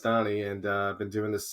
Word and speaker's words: Dani: So Dani, I've spelled Dani, pronounced Dani, and I've been doing this since the early days with Tom back at HP.